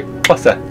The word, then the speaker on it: Xhosa: Well, I mean, if your listeners try, if you go out the side of your mouth, that's how you say Xhosa, Xhosa.